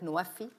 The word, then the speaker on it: NWFE: It's pronounced in Arabic, Nuwafi, which means fulfilling pledges.